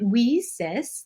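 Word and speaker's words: WiCyS: go by our acronym we sis and we spell that w-i-c-y-s and we pronounce it we sis like we sisters because that's exactly what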